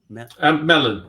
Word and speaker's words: Mellen: Is it pronounced Mellen or Mellen? Mellen. It's Welsh in origin. My father's Welsh. Is it? And apparently it's the Welsh equivalent of Miller.